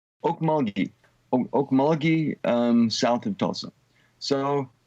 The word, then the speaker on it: Okmulgee: How did you end up in, how's the town name pronounced? Okmulgee.